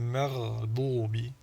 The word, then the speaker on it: المغضوب: Rayi, rayi, rayril maghdubi. Dans le maghdubi, c'est le contraire. De l'muraqqaq à al-mufakham.